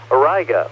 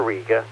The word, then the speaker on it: Auriga: week this week because ariga or Riga you'll hear me pronounce it either way the Chariots here were